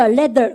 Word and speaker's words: leather: 여러분 그거는 일본 말이고 레자 아니에요. 일본 사람들이 th 발음 못해서 여러분들 이거 혀 내고 성대 확 올리자면 쓰. 근데 이거는요 성대 올리세요. 발음 갖다 the leather. 그죠? leather. 우리는 한국 사람이니까 발음할 수 있습니다. 발음하니까 leather. 그죠? 그랬습니까? 레자 그러시면 안 돼요.